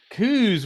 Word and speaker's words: Cooze: Cooze. With a C on it. Cooze with a C on it.